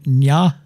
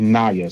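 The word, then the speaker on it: Ny'a: And I had to say her name, Nya. It's actually Naya. So it's Naya. N-Y apostrophe.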